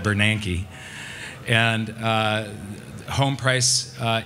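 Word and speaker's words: Bernanke: when that convention happened I called him bernicki not Bernan and uh home price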